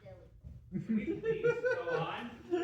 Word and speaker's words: Delhi: Okay, Billy, that's because you're not sounding the H. It's Delhi, not Delhi. Polly, the H is silent. It was right. It is pronounced deli.